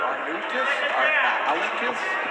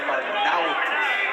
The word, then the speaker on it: Arnaoutis: And that is the pronunciation, by the way. We did check with Mighty Mike today because announcers seem to have a big problem with his name. We hear Arnaoutis, Arnaoutis. It's Arnaoutis.